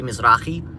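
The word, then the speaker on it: Misri: from the Middle East, I'm technically Misrai or or the actual pronunciation would be Misrai.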